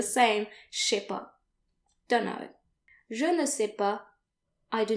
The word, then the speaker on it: je ne sais pas: And if you don't know something, then you want to say je ne sais pas. Je ne sais pas. And notice that the final S's are silent, like they normally are in French.